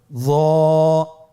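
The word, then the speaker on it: ظاء: একটু মোটা করে বলতে হবে। হরফটি হলো মোটা হরফ, বারিক করে পড়া যাবে না এবং হরফটি উচ্চারণ করার সময় অবশ্যই 1 আলিফ টেনে পড়তে হবে। আমার সাথে বলুন য।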